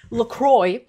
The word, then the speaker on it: LaCroix: It triggers me so much that that's how they officially pronounce it. LaCroix and stuff like Liquid Death.